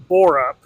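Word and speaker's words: Bearup: The book is Just Stab Me by Jill, I believe it's pronounced Borup.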